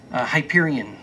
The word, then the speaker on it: Hyperion: Speaking of your publisher, Disney Hyper, how do you pronounce? Hyperion.